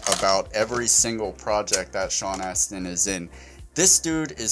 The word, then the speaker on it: Sean Astin: who you're speaking up sean astin sean austin there's no you in there sean aston he was in there